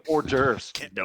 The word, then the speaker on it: hors d'oeuvres: No, it's hors d'oeuvres. Can't No, it pronounce isn't.